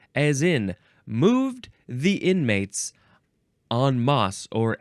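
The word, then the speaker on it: en masse: enliven it up Bo the next word is on MOS or on mass or nmass Nas I feel like on MOS that's the proper way to say it e en is the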